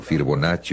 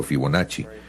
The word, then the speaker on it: Fibonacci: sino a Leonardo Fibonacci, como quieran pronunciarlo, Fibonacci o Fibonacci.